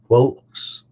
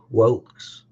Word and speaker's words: whelks: of the world folks that one is pronounced Wilkes more of a u-sound Wilkes and they used to